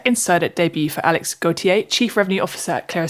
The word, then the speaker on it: Gautier: to the podcast Alex apologies if I've butchered your surname but what should our listeners know about you and clear estate please no it was perfect Kate thank you uh some I'm